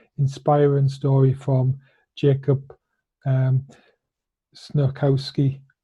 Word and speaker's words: Snochowski: I have for you today a fantastic, inspiring story from Jacob um, Snochowski. Snochowski. The C is silent.